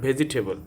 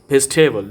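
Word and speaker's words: vegetable: ভেজিটেবল নট ভেজিটেবল, এটি হবে best ভেজিটেবল।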